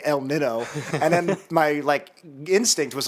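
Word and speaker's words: Niño: What did I say, Nino? El Nino. It's Nino. What's funny is in my head I was like, I'm going to say it wrong. I'm going to say El Nino, and then my instinct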